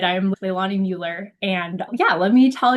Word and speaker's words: Leilani Mueller: Leilani Mueller. Is that right? Yep. Leilani Mueller.